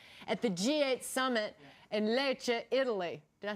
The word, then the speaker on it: Lecce: We just received the video feed of Treasury Secretary Tim Geithner's news conference at the G8 summit in Lecce, Italy.